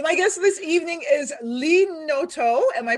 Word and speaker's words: Lee Noto: So my guest this evening is Lee Noto. Am I pronouncing that correct?